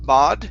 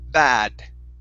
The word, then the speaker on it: bad: the word bad okay instead of ba bod it's B bad bad okay very nice and